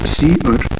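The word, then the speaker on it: cerr: outputs then we have c e r r pronounced as c r which is the standard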